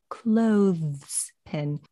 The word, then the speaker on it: clothespin: She actually pronounced the TH in clothespin. I don't do that. I like to take a little shortcut. Just skip the TH. I say clothespin, but Super Holly, if you want to go ahead and pronounce that TH, more power to you.